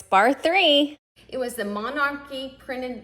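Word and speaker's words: Bar III: So it's Bar 3.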